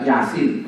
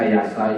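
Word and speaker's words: يس: harakah Gimana bacanya itu mestinya kan bisa dibaca Yasa Yusu Yes bisa ya eh enggak ada orang Islam baca Yes ketemu ya dan Sin enggak ada kenapa karena dari Rasulullah begitu bacanya makanya hati-hati ya Ada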